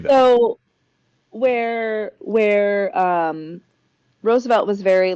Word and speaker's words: Roosevelt: Um, so yeah, that is really crazy that um Roosevelt's Am I still saying it wrong? Is it Roosevelt for Teddy? Oh, Rose.